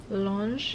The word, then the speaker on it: L'Ange: I looked up how to say it, how to pronounce it. It's like Lange.